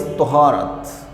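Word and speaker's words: طهارة: Now, purity and cleanliness, Arabic word is taharat.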